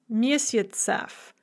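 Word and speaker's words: месяцев: stress on the stem have to have jeff as their genitive plural ending so misits a month becomes misiotzeff with a yes an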